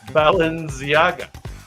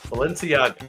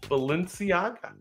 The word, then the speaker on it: Balenciaga: And this was the how do you say it? Baleniaga. Baleniaga. Balenciaga. Sorry. Balenciaga. Of course.